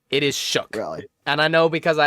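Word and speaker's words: Shough: No, it's Shook. Actually, that's how it's pronounced. Shook. It is Shook.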